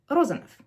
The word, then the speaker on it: Rozanov: whether you engage your vocal cords, right? B, p, v, f. So it would be Rozanov.